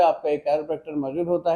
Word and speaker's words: chiropractor: बहुत से लोग वाकिफ नहीं, इवन के लोग इसको सही प्रोनाउंस भी नहीं करते। The word is कैरोप्रैक्टर।